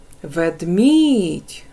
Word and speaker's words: Ведмідь: відноситься до другої схеми Ведмідь наголошений другий склад Отож третя схема відноситься